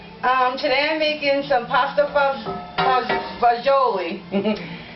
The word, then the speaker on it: pasta fagioli: today i'm making some pasta bajoli there's different ways of pronouncing it you can call it pasta fazoo it's pasta and beans